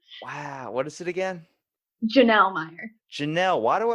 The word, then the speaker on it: Jonelle: I'm here with Jonelle Meyer. Hello. I said it right, didn't I? You did not, but that's okay. Wow, what is it again? Jonelle Meyer.